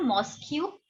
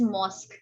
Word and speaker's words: mosque: से भोपाल में called मॉस्क्यू right The correct pronunciation is mosque.